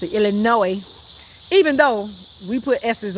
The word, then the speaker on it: Illinois: Don't pronounce the S. Illinois. is how you pronounce it. Illinois.